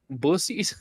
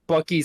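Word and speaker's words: Buc-ee's: Except nobody would know which one's which because people pronounce Buckies as bussies for some reason.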